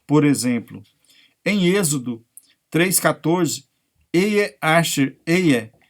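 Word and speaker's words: אהיה אשר אהיה: Em hebraico, pronunciado Ehyeh Asher Ehyeh.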